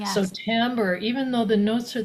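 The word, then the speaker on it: timbre: So sometimes people say it timber, but it's tambber.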